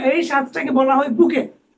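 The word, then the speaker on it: bouquet: লাত্থি মারো ঠিক আছে তাহলে নলেজ বা ইয়ে উচ্চারণ বা কেন লোডে কেন লোডে নাকি ঠিক আছে এই যে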